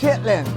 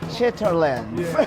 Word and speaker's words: chitterlings: Now, if you looked at it written on paper, it might look like chitterlings, but I believe that's not how it's pronounced. Chitlings.